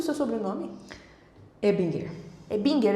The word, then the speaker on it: Ebinger: Mas o meu sogro, que é o cara, dono do sobrenome, né, ele pronuncia Ebinger.